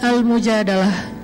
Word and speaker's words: Al-Mujadalah: Jadi tergantung kita bacanya dilah atau dalah. Kalau kita baca Mujadilah, berarti perempuan yang lagi curhat. Kalau kita baca Al-Mujadalah, berarti curhat itu sendiri.